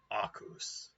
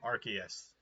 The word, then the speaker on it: Arceus: teachings of pine sol pokemon legends akus or arceus but i will forever pronounce it akus purely as a joke i don't know it's